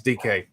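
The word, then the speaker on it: Dike: DK. It is DK.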